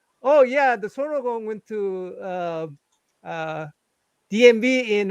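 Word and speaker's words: 손오공: By the way, in Korea we call it sonogong. How do you guys pronounce it? Sonogong. Sonukong. Sonukong. Yeah. Son Wukong. Sonukong. Yes, we are very distinct. Son O Gong, 3 syllables.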